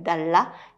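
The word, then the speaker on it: dallah: Et vous pourriez ramener à côté de ce café une cafetière typique arabe, donc qu'on appelle Dalla, qui s'écrit D-A-L-L-A-H et qui est également la cafetière que vous allez trouver sur les pièces de monnaie, ici aux Émirats.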